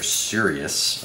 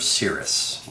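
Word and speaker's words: Crius: It's C-R-I-U-S. So it's either Sirius or Cirrus with a weird spelling. I'm thinking Cirrus.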